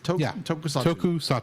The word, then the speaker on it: Tokusatsu: Tokusatsu. Tokusatsu production. You could just say toku for ease of use. Tokusatsu. I'm going to say Tokusatsu. Okay. Just giving you the official short word. Yes, Tokusatsu franchise, offering a neo-light look at the city-smashing